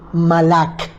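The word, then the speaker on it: mal'akhi: profeta de este malaquías deriva de una palabra hebrea que se pronuncia como malak y significa mi mensajero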